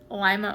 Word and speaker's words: Lima: Like Lima, Ohio is spelled like lima bean, but in other countries it's Lima.